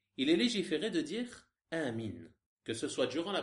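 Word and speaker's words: آمين: Donc lorsque l'imam dit Amin, tu dis Amin en même temps que lui en prolongeant bien la prononciation de ce mot, en disant Amin.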